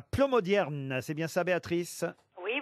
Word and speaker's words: Plomodiern: Béatrice est dans le Finistère à Plomodierne. C'est bien ça, Béatrice? Oui, bonjour. Est-ce que je Bonjour.